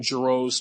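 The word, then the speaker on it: Geriot: Now, I know nothing about Dan JRO's coaching record, by the way. It's pronounced JRo.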